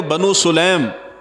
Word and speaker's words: بنو سلیم: علیہ وآلہ وسلم نے بنو سلیم، یہ عربی کے اندر کہتے ہیں تو بنو سلیم اس کا تلفظ ہے، حضور صلی اللہ علیہ